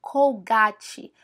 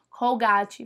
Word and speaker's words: Colgate: a gente adora falar colgate colgate mas lá eles falam Colgate colgate colgate então se você tiver no mercado atrás de pasta de dente Não pesquise não busque por cgat fala Colgate que aí o vendedor